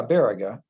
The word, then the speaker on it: Baraga: Yeah, Baraga.